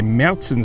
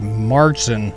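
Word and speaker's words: Märzen: of beer oktoberfest beer is a meltzen style beer or a martian style as some americans say it's a little darker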